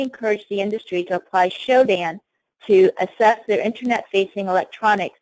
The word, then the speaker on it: Shodan: For those of you who are unfamiliar with this, it's spelled S-H-O-D-A-N, Shodan, which is designed to find critical infrastructure devices that can be accessed from the Internet.